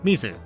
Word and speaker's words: mizu: Mizuki's name, at least the first bit, is pronounced the same as the Japanese word for water, Mizu, so of course she's the one who becomes a mermaid, right?